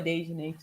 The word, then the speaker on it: Daejanae: Lulu yesterday, someone pulled up Daejanae's name. There were so many she had to scroll. It was scary. Wow. So Daejanae is a pretty popular name, huh? Day. Anyway, I know a Daejanae too.